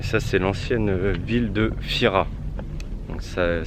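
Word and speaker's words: Thira: des maisons et ça c'est l'ancienne ville de Fira ça s'écrit T H i r a mais ça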